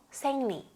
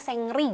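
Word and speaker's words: 생리: Nah di sini eh seng itu harusnya sengri gitu ya tetapi karena R dia bertemu dengan Eng ya Eng gitu jadi seng ni jadi realnya menjadi Nen bacanya seng ni biar agak-agak Korea banget gitulah biar biar kayak orang Korea jadi bacanya bukan sengri tetapi seng ni seperti itu ya Nah kita lihat lihat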